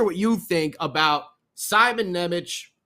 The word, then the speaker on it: Nemec: i thought it was nemic for a while but then we heard you know i thought it was anemic i don't know you know johnson johnson same thing sometimes these pronunciations change scotty forgets you know enough